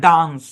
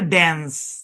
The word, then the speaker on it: dance: জি, আরো কিছু শব্দ দেখেন, যেমন দেখেন DANCE, এই শব্দের উচ্চারণ ব্রিটিশরা বলে ডান্স, আমেরিকানরা বলে ড্যান্স। হ্যাঁ, ড্যান্স। এবং আমাদের প্রনাউন্সিয়েশন রুল অনুযায়ী কিন্তু ড্যান্সই হয়, ঠিক কিনা?